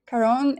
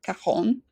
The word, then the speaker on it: Caron: All right, so Karon is one of the most respected, longstanding uh French perfume houses with, and I guess I should have pronounced it Kahon.